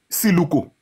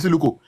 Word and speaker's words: Siluko: This guy saw Siluko. Siluko River.